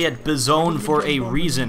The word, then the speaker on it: Bison: I say it Bizone for a reason. I say it like it is spelled B-I-Z-P-W-N because own is a gamer term, derp.